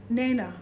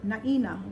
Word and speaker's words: Naina: It was Naina, but people called her Naina, like hyena.